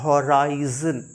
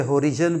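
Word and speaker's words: horizon: एच ओ आर आई एच ओ आर आई जड ओ एन यह माय डिय learner होता है होराइजन होराइजन लोग इसे हरिजन पढ़ते हैं या बहुत कुछ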